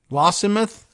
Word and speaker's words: Lossiemouth: It was spotted entering the Moray Firth on November 10th and seen about 30 nautical miles east of Lossiemouth. Lossiemouth, maybe? It's spelled like Lossy Mouth, but Lossiemouth.